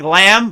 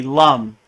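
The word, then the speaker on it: लं: So it looks like lamb, but it's really lum. So the bija mantra for the root chakra is lum. Lum. Lum.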